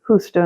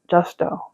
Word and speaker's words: Justo: I think in Spanish you would say Justo, not Justo, but you can see how it's spelled, okay?